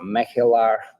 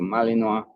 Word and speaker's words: Malinois: Like in in Dutch it's a melar. In French is a malinoa.